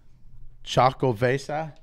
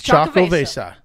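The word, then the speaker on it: Xocoveza: But he said that they pronounce it out there as Chocovesa. You got it. It's Chocovesa.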